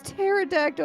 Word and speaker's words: pterodactyl: He's like, "Sweetie, it's pterodactyl." I was like, "The P is not silent." And then I And then I found out, yes, in fact, the P is silent.